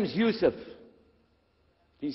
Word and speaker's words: Yusuf: we'll work on it shalom my name is youssef do you say yusuf you say yusuf you're very good i wish you teach my wife she keeps mispronouncing it she calls me useless now